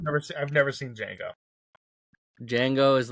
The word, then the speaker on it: Django: it J Django D Jango okay the D is silent yes I wouldn't have